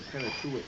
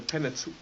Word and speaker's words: Pentateuch: The Pentateuch. How do you say it, the first 5 books of the Bible? The Pentateuch.